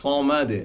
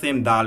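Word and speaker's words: صمد: যেটা বলেছিলাম 5টা হরফ, সেম দালের ক্ষেত্রে আবারও এখানে জজম হয়েছে, দ্যাটস ওয়াই আমার এখানে কলকলা উচ্চারণ করতে হবে, আল্লাহু সমাদ। শুধু সমাদ, সমাদ এভাবে বলতে হবে না, আমাদের পড়তে হবে আল্লাহু সমাদ, সমাদ। হ্যাঁ, দে হালকা দে মতো সাউন্ড আসবে, দে এভাবে আসবে না, জাস্ট বাড়ি খাওয়ার সাথে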